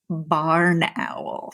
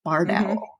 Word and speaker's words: barred owl: It's barred because of the bars of color in their wings.